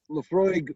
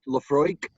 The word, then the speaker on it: Laphroaig: big deal Jeff you're absolutely correct Laphroaig itself Laphroaig means the hollow by the bay that Oh a IG ending that it pronounced Laphroaig it it means Bay as in Viking Vick